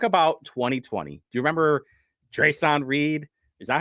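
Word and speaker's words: Dreasjon Reed: Do you remember Dre'Son Reed? Is that how you say it? Yeah, Dre'Son Reed.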